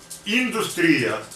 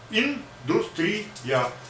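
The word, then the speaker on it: индустрия: In Russian industry, it is industria. So first E short, industria, industria. The last E is long. So two E, industria, industria, industry.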